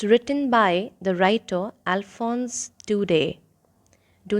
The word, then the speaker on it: Daudet: It's written by the writer Alphonse Daudet. Do not pronounce Daudet because in French we do not pronounce the last consonant, and that's why you have to be careful while pronouncing Daudet. It's Alphonse Daudet.